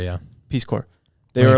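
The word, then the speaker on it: Peace Corps: Peace Corp or something Peace Corp peace it's pronounced Peace Corp yeah Peace Corp they were like in I think that's what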